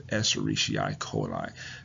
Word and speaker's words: Escherichia coli: Well, the actual term, the real term is, we call it Escherichia coli. Again, the pronunciation is Escherichia coli.